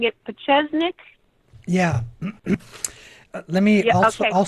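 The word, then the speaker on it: Pieczenik: p i e CZ n i k uh pesnik and that's how it was that's how it was pronounced you know on the on uh Alex's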